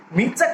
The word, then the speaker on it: Mistah: এই মির্জা উচ্চারণটা অনেকটা স্লেভরা মিস্টারকে মির্জা উচ্চারণ করে, মিস্টার।